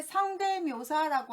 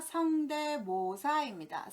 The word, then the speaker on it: 성대모사: 두 번째 성대묘사라고 하는데 성대묘사가 아니라 성대모사입니다.